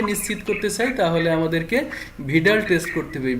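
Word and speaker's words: Widal: করতে চাই তাহলে আমাদেরকে ভিড়াল টেস্ট করতে হবে ভিডালটা উচ্চারণ নিয়ে অনেকের অনেক ঝামেলা আমি একসময় এটাকে উইডাল বলতাম তবে ডব্লিউ আই ডি এল এটাকে ভিডাল উচ্চারণ হবে এই জিনিস আমরা এছাড়া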